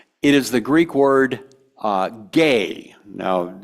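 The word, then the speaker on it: gē: E-A-R-T-H, right, earth, it is the Greek word gay. Now, it's the word G-E. It's pronounced gay.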